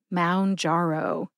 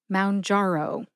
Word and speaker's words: Mounjaro: m jaro jar is the second syllable it's jar like a jar of strawberry jam and the last syllable is O like the letter o in the alphabet put that all together and you get M jaro emphasize jar and O see if you can hear that emphasis when I say it slowly Mound jaro Mound jaro again the whole key